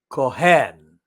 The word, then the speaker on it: Cohen: David Cohen I said the Cohen with the pronunciation Kohan asked Lutheran in October